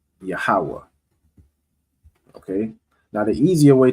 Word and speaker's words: Yahweh: Next word, Yahweh. So ya, ha, and then this one, the ha, would be joined. All right, so let me get the joiner one. Right? Yahweh.